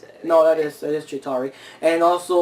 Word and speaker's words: Chitauri: I probably mispronounced it. No, that is Chitauri.